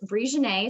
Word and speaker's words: Brijonnay: just my name um and so it's at bree janae so it's spelled b-r-i-j-o-n-n-a-y and i know i should probably